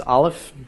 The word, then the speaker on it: aleph: the sound of the aleph first, and then the sound of the vowel. Okay, in this case, aleph is silent, so it makes no sound.